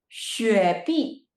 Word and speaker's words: 雪碧: And how do you pronounce that? 雪碧.